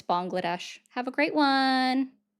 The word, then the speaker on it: Bangladesh: Bangladesh. Incorrect. It's Bangladesh. Have a great one. You just said Bangladesh.